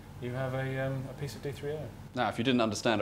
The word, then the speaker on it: D3O: D3O, as it's pronounced, is a specially engineered material that, when